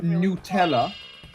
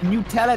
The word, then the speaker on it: Nutella: Because, and this is why because I'm French, but in French it's pronounced Nutella, and I pronounce that in English, and it just makes more sense to me.